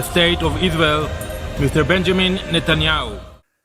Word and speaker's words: Netanyahu: Muitos falam Yarro no final. O nosso presidente Jair Messias Bolsonaro pronuncia corretamente. Ele fala Benjamin Netanyahu. Ele pronuncia corretamente.